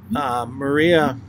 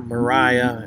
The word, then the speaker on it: Maria: on in their relationship, Maria, or Mariah, I've heard it pronounced both ways. It's spelled Maria. But I heard at one point that it was actually pronounced Mariah.